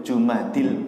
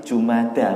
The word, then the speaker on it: Jumada: Memang kebiasaan kita itu dari dulu Jumadil Ula gitu ya. Tapi guru saya waktu kita belajar tentang bulan-bulan kalender itu, yang betul itu bukan Jumadi, tapi Jumada bacanya.